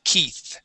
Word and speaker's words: Keith: in English Okay but the uh eii here make a long e sound the name is Keith try that please Keith